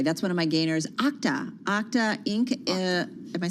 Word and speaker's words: Okta: Okta Inc. Am I saying it right? Yeah, Okta.